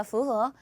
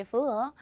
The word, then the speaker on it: 符合: 발음 어떻게 한다? 符合. 꼭 들어맞는 것을 말해요. 다시 한번 符合.